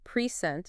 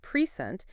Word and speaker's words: present: If we stress the first syllable, present, it's a noun meaning a gift. But if we stress the second syllable, present, it's a verb meaning to give something.